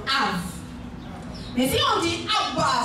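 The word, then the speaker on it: אב: Ab, et le bête, là, on le prononce V. Donc Av.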